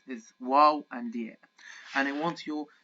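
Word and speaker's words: واو: start with our wow wow can be pronounced as a consonant as the letter W we can see our first example the first okay it's just pronounce it here as consonant okay but it can also represent the heavy vowel form of O the heavy fowel form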